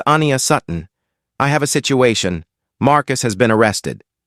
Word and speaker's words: Sutton: "All right, Sutton," Callahan began, purposefully mispronouncing his name as Sudan.